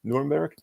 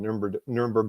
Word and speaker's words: Nuremberg: He was the lead American military psychologist at Nuremberg, if I try to pronounce it like a German would, Nuremberg.